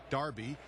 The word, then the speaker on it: Derby: football is King in Darby and by the way yes I know it's spelled with an e Derby but it's pronounced with an a Darby you know one of